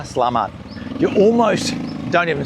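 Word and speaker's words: Selamat: So, the way you do it, that first S E part of it, it's not say, it's sir. It's really important. Sir, sir. So, and then the last part is "lamat". "Salamat". Yeah, say it faster, "Slamat".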